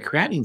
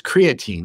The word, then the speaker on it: creatine: taking a lot of creatinine supplements or it's creatine actually not creatinine I said it wrong you take creatine supplements